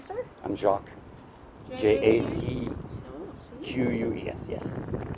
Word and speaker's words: Jacques: I'm Jacques. J-A-C-Q-U-E-S, yes. You don't pronounce the S because then you got a jackass, right?